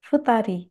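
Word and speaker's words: 二人: Di sini saya mulai dari satu orang, hitori, dua orang, futari, tiga orang, sangnin. Jadi di sini cara baca yang spesial adalah satu orang dan dua orang.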